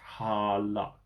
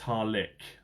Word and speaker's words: Harlech: But a quick Google search tells me that it looks like it's pronounced Harlech.